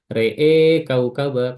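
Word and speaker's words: رأى كوكبا: Adapun kalau setelahnya mutaharrik atau berharokat, maka selalu diimalahkan. Re-e kaukaba kalau wasol, atau kalau mau berhenti, re'ehu, re'e, ya, re'e. Kalau mau sambung, re'e kaukaba.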